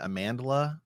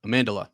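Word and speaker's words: Amandla: St uh am how do you say it amandela amandela yep amandela yeah stanberg yeah I actually will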